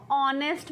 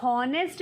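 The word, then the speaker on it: honest: तो कॉन्सोनेंट होता है, पर एच क्या है? साइलेंट होता है। एच क्या है? साइलेंट होता है। साइलेंट होता है तो हम क्या बोलते हैं उसको? ऑनेस्ट बोलते हैं। हॉनेस्ट नहीं बोलते, ऑनेस्ट बोलते हैं।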